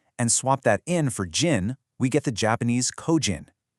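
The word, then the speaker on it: 人: That in sound reliably, dependably transforms into jin or nin.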